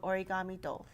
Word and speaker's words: Origamido: And we found that, especially in the Boston area, because we have so many Spanish neighbors, they were pronouncing it Origamido. So I said, well, I'm not going to run into that kind of trouble in Hawaii. I want people to recognize its Japanese roots.